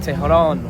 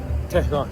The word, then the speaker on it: Tehran: How do I pronounce it? Tehran. Tehran.